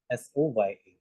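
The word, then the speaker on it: Soja: S O J A is but it is pronounced at S O Y A.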